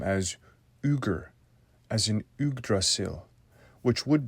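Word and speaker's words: Yggr: and it actually parallels the name name um Iger of Odin here I should have more correctly pronounced the Norse name as uger as in ugra which would bring the viic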